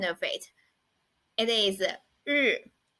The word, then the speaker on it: 日: It is 日. 日. You need to curl up your tongue a little bit, like the pronunciation of r in English.